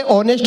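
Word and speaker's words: honest: ये बोला ये ऑनेस्ट को होनेस्ट कहता है, ऑनर को होनर कहता है, इसे समझाओ इसमें एस साइलेंट होता है।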